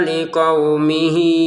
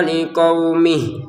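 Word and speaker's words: لقومه: Waidz qala Musa liqaumihi innallaha yaukum. Di sini ada liumihi panjangnya enam harakat ya. Kalau kita gabungin panjangnya hi dengan hamzah. Kalau tidak maka tidak panjang sama sekali. Contoh waidz qola Musa liquumih.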